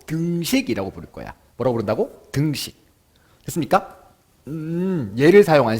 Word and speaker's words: 등식: 발음 잘해야 된다. 등신 아니고 등식이야. 등식.